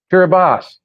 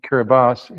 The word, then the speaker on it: Kiribati: Kiribati, there it is, that TI diphthong pronounces an S.